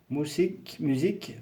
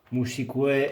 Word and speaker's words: musique: Par exemple, biologie, biología, mathématiques, matemáticas, informatique, informatica, musique, musica. Presque pareil. Hein? Musique, informatique, non. Hein? Musique, informatique. UE ne se prononce pas.